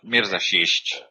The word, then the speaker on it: Mirza Sisic: Please pronounce your own name. It's Mirza Sisic.